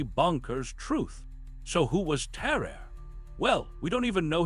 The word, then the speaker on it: Tarrare: Let me introduce you to Tarrare, pronounced like Tarrare, a French dude from the 1700s who could eat literally anything and everything, and I mean everything.